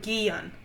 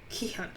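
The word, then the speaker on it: Ki-hoon: And then there's the main character, Ki-hyun. Not Gi-hyun. Not Gi-hyun. Not Gi-hyun. Ki-hyun.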